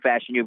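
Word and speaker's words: Fashanu: Oregon state but I I'll go with Olu fashion you because I've just been stuck on his name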